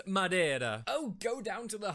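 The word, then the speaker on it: Madeira: now yet instead here you are sucking down madira wine like it's the first job you've ever had well Mary I just thought it was about time someone did some sucking in this house and it's pronounced Madera oh go down to the hob if you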